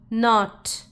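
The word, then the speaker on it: knot: N, a, t, not. And this K is silent.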